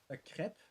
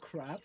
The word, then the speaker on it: crepe: Like, it was crepes with, a crepe. Not crab, but crepe. Crepes. It's crepes. Yep. Okay, it's pronounced creeps in English.